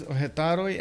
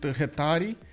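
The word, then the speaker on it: Hetairoi: I need to pronounce instead of Hetaroi, I need to pronounce it Hetari.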